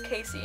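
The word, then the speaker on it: Kasie: Then we have PSI Like You by Casey West. I'm pronouncing her name Cassie West. I need to stop that, because I did that at the beginning, and then I found her name was Casey, and I still keep pronouncing her name that way.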